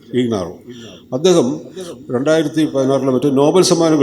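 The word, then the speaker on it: Ignarro: വച്ചിരിക്കുന്നത് ലൂയി ഗഹിനാറോ എന്നൊരാളാണ് ഹിനാറോ എന്ന് പറഞ്ഞാൽ ഐജിഎൻഎ ആർആർഓ എന്നാണ് ജിഎച്ച് എന്നാണ് ഉച്ചാരണം ഇഗ്നാറോ അദ്ദേഹം 2016ലെ മറ്റ നോബൽ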